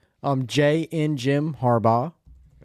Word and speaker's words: Harbaugh: Um, Jay and Jim Harbaugh.